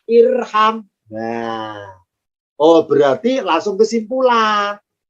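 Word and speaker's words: ارحم: Kalau huruf ketiganya fathah, alifnya tidak ikutan fathah, tapi tetap kasroh. Maka bacanya irham.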